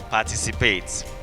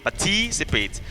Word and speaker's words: participate: Participate, not participate. Most of your words that end in A-T-E, you place the primary stress on the third syllable counting from the back.